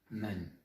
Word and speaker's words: 们: dire, ah oui, mais il ressemble au caractère de la porte, qui se dit men. Donc ce mot se prononce aussi men.